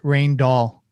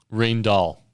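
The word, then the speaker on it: Rijndael: apologies there and I think it's pronounced rain doll rain doll okay so and this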